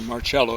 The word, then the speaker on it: Marcello: close links, to Carlos Marcello, or Marcello is a better pronunciation, the head of the mafia, and he's not a mafia associate.